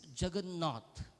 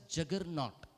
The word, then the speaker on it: Jagannath: And what is this Jagannath? And when they could not pronounce Jagannath, they would pronounce it as Juggernaut.